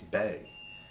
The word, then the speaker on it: be: And be is not be, it's bay. Huh. Right? To bay or not to bay.